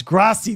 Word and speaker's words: Grassi: Pronounce Grassi. That's right. Not Grossi. Grassi.